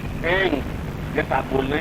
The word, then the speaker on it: ऐं: ऐंग, ए ऊपर मात्रा, ऊपर बिंदी, ऐंग।